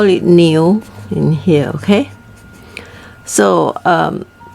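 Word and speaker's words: 牛: you're also a new you can also remember like a new you know like something new you know like you have a new clothes those kind of thing new so but the tone you you put it as new okay and uh also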